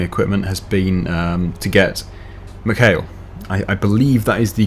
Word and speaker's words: McHale: Now, the recommended brands for any kind of baling equipment has been to get McHale. I believe that is the correct pronunciation.